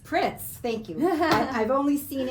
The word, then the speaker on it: Pritz: Pritz. Pritz, thank you.